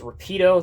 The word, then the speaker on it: Rapido: from a company that i believe the correct pronunciation is rapido they are a company